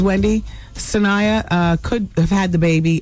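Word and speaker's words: Sanaa: Wendy, her name is pronounced Sana.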